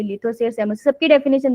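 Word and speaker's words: psammosere: सेमोसियर। सेमोसियर। देखो, P silent है, Sands को एस से याद रख लेना, ठीक है?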